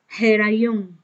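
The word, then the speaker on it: היריון: Miren, ¿cómo se dice embarazo, gestación en hebreo? Herayón, así se dice, herayón.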